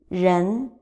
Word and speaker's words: 人: Last one, ren, ren, ren.